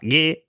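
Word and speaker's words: gay: me hablaban de guet, que se pronuncia guet, pero se escribe G-A-Y, no sé si ya ves dónde quiero venir, porque significa exactamente lo mismo que estás pensando, alegre.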